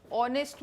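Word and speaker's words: honest: C first is ऑनेस्ट ऑनेस्ट में H silent है नाउ कैन you find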